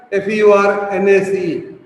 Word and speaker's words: furnace: You have a furnace, F-U-R-N-A-C-E. Furnace, R is silent. Therefore you pronounce as furnace.